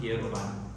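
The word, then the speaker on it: Pierre Robin: Have you all heard or do you remember the term pier roban syndrome is spelled pier robin robin but it's pronounced pier roban right?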